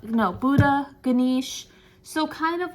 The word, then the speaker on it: Ganesh: wrong it's like Buddha gisha not no Buddha Ganesh so kind of like I want to say